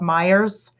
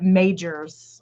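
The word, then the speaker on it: Meijer: other stuff well anyway it's spelled m-m-e-i-j-e-r and my mom oh we like called it majors when she first moved from tennessee up until we made fun of her so many times that she finally stopped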